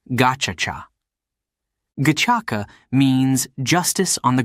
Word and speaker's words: Gacaca: It turned to an old tradition called Gacaca, pronounced Gachacha.